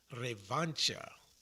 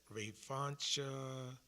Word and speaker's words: revancha: Now this word right here, revancha.